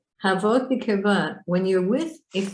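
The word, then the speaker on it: הוות: I don't know if I told you how to pronounce this word, but it's called havot.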